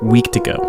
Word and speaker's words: Wendigo: But after all of that, he began to tell the story of the Wendigo, or how they pronounce it, week-to-go, in the only language he had ever heard it, Cree.